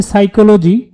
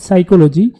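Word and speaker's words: psychology: এখানে সঠিক বানান হচ্ছে সাইকোলজি। ক নম্বরে সঠিক বানান পি এস ওয়াই সি এইচ ও এল ওজি ওয়াই সাইকোলজি। এখানে পির উচ্চারণ হবে না।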